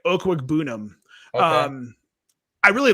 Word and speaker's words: Okwuegbunam: Didn't we say I thought it was Aquabanum. Didn't we say that all last year? Nate just switched. Yeah, we did. For us but he put the pronunciation in his Twitter profile, his Twitter bio. So yeah, it's like Okwuegbunam.